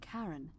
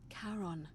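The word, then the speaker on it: Charon: The name you heard wasn't Karen. It was C H A R O N. As in Karon, the fairyman of the dead.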